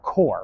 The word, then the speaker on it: Corps: Or Corps, right? Peace Corps, the S is silent.